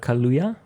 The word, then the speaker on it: Kaluuya: It is, Fred Hampton is played by Daniel Kaluuya. I'm pretty sure I'm pronouncing that correctly. Yeah, and he Londoner, Daniel Kaluuya, Exactly.